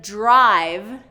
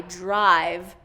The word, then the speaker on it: drive: Instead of drive, with that long I, drive. I'm hearing driv, driv.